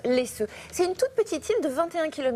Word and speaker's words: Læsø: péninsule elle s'appelle laisseux ça s'écrit l a e s O c'est au Danemark et ça se prononce laessux c'est une toute petite